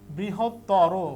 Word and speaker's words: বৃহত্তর: কিন্তু বৃহত্তর এটার উচ্চারণ হবে বৃহত্তর। মানে উচ্চারণ লেখার সময় র ওকার হবে।